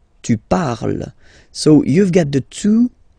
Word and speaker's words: parles: So you've got the two first forms, you pronounce them the same way. You write them differently, of course, because you've got here and then you've got and s, okay, but then phonetically they are the same.